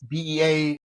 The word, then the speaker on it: Beaulieu: It's Beaulieu.